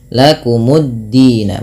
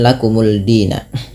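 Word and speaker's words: لَكُمُ الدِّينَ: Maka menjadi lakumuddina, bukan lakumuldina. Kalau misalkan kita tidak punya harokat ya gitu ya, maka cara bacanya sama, lakumuddina.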